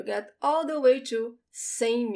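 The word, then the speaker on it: cem: example then you get all the way to same u notice when we have say and when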